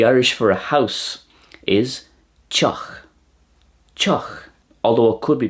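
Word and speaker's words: tŷ: The Irish for a house is teach. Teach. Although it could be pronounced tig as well, depending on the dialect. So, teach or tig in Irish. In Welsh, it's pronounced tea.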